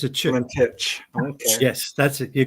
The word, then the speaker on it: Valentich: Valentich. Okay. Yes, that's it. You got it. I've been mispronouncing it the whole time.